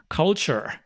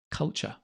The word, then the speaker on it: culture: culture culture culture culture culture i love it i love the american accent that strong r at the end culture because in english culture culture british english we don't pronounce the r culture culture great so